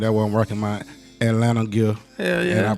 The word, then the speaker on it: Atlanta: We don't pronounce none of the T's in Atlanta.